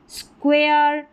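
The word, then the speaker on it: square: फिर नंबर 2 वाला पैटर्न ले, अलग है, SQ और U, इसको स्क्व करके प्रोनाउंस करेंगे, SQU। तो इन सभी में स्टार्टिंग में है, जैसे स्क्वेयर, यह है स्क्वीज़ और यह है स्क्वेरल, स्क्वेरल।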